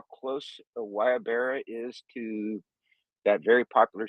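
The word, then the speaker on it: guayabera: bear shirts are expensive so so it's actually pronounced right the wire Barrel like wire Bara and have you noticed check how close wyabara is to that very popular shirt in Ukraine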